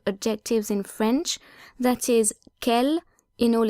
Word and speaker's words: quel: But even though quel is spelled differently according to whether it's singular or plural, masculine or feminine, all forms of quel share the same pronunciation.